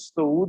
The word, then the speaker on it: सऊद: सऊद मसीह, ये correct pronunciation, सऊद मसीह, इस पर वाव भी ऊपर आता है, सऊद मसीह, ठीक है।